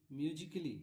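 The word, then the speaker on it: musically: जैसे एग्जांपल में देखिए म्यूजिकली म्यूजिकली है ना यहां सी के बाद ए है। सी से भी क होता है और ए से भी होता है। है ना? इसलिए यहां पर ए साइलेंट है।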